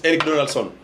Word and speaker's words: Eric Donaldson: I think it reminds me of the song by, is it Eric Donaldson?